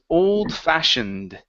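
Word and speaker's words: old-fashioned: saying fashioned okay so this e right here right before the D will not make a sound so it's oldfashioned old fashionate okay all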